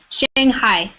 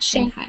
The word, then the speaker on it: Shanghai: in J mate right Shanghai is how you say that Shanghai Shanghai in English anyways I don't know in